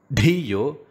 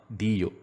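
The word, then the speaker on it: धियो: So it should not be Bhur Bhuvaha. It should be Bhur Bhuvaha. Bhargo and not Bhargo. Dhimahi, not Dhimahi. Dhiyo, not Dhiyo.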